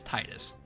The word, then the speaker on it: Titus: Yeah, it's Titus because that's how they pronounce it in Kingdom Hearts.